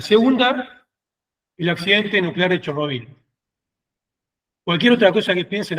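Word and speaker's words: Chornobyl: Digo Chernobyl y me comento, no digo Chernobyl porque el nombre que todos sabemos de Chernobyl es la rusificación del nombre. En ucraniano se dice Chernobyl, yo bueno, adhiero obviamente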